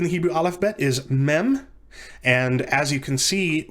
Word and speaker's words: mem: that in a moment the letter mem or maim to be more to enunciate the vowel sound a little bit more is pronounced like the english letter m in a mother for which reason it